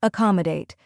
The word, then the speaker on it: accommodate: is aam a date first uh is a soft sound like the a in about next Comm rhymes with